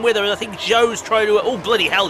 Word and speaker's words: Zhou: I'll call him Zhou anyway. And that's spelled Z-H-O-U, Zhou.